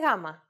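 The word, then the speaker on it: γάμμα: I want to make one more point regarding the pronunciation of delta and gamma. It is very easy to forget the way they are pronounced in Greek and go for their English versions, delta and gamma. Please don't forget that in Greek, the sounds are much softer. Oh, and another thing.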